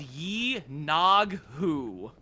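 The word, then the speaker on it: Yinoghu: if we're looking on the Forgotten Realms wiki, it is Yi Nog Hu.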